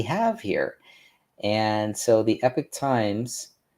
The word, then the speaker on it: Epoch Times: And so the Epic Times, spelled EPOCH, Epoch Times, but it's really Epic Times when you pronounce it.